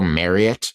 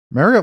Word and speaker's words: Marriott: Rocco Marriott, top 25 quarterback, 4 stars on the 24/7 Sports Composite. Marriott like the hotel, by the way.